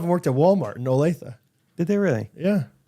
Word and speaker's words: Olathe: You say like Olathe. you make it like an A. It's an O. Olathe.